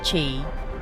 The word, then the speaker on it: qi: We begin with the concept of qi, pronounced qi, the vital life force that animates all living beings.